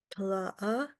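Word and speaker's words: tláa: How do you say the last part? Tla? Tla'a? The last word means mother and it's tla.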